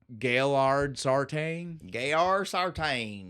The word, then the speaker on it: Gaillard Sartain: the kind of South where they don't pronounce it the way the French name might have been pronounced. No. French, but with an accent. Right? So again, most likely Gaillard Sartain.